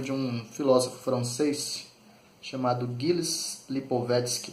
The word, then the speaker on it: Gilles Lipovetsky: Eu quero só ler para vocês um trechinho de um livro de um filósofo francês chamado Gilles Lipovetsky, na pronúncia aportuguesada aí, né?